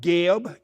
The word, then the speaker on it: Geb: The earth represents a male principle called Geb, G E B and the sky represents a female principle or feminine principle called Nut, N U T.